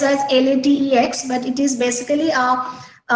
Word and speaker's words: LaTeX: So I want to say that LaTeX is, so it is spelled as LATEX, but it is basically it's pronounced as LaTeX.